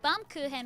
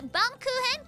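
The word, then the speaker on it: Baumkuchen: say and they're like oh it's German it's like bum kuhan which is a delicious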